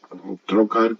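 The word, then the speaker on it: trócar: es la B trocar trocar que tiene acento en la en la o Aunque ahí no está puesto e pues es eso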